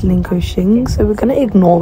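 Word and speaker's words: Linköping: hopefully so for all these times I say lingo ping it's actually pronounced lingo Shing so we're going to ignore that yeah um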